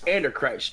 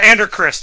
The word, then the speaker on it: Andrew Christ: It's Anderchrist, right? Andrew Christ, actually.